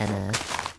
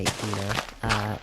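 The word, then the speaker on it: Ena: Yes, I know about Enna, which is how I pronounce it, by the way. Most people say Ina.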